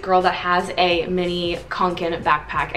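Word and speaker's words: Kånken: that has a mini kanken backpack i don't know how to pronounce the full name it's like fall raven but the second part says kanken that i know i'm pronouncing right they have bigger ones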